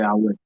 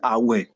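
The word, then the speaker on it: Awẹ: Awe. We call it Awe. Awe. Okay. Awe, let me spell it.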